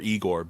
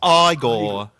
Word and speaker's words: Igor: like I'll I'll just quote Igore or Eigore being like you're putting me on. No, no, it's pronounced Frankenstein.